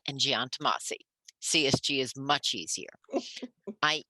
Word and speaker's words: Giantomasi: The firm's name is pronounced Chiesa, Shahinian, and Giantomasi.